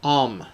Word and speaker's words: Om: a look about the Hindu symbol om pronounced um okay it is comp composed of three sounds ah a u m and the symbols three-fold